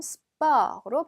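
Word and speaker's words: sport: 자 얘도 오기는 한데요 발음은 수퍼 가 아니라 마치 어 처럼 수바 호로 발음 하시면 됩니다 자 그 다음에 위로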